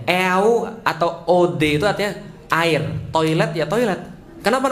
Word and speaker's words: eau de toilette: sama banget eau de toilette adalah kode toilet bacanya e-awb atau Ode saatnya air toilet toilet Kenapa namanya air toilet